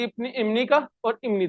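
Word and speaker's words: 입니까: सबसे पहले इसका ये रूल याद कर लें कि ये जो ग्रामर है इसकी मैंने प्रोनाउंसिएशन किया है इमनी का, इमनी का, यानी इपनी का नहीं हमने कहा।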